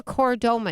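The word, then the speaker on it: chordoma: It's called a coridoma. It's spelled C H O R D O M A.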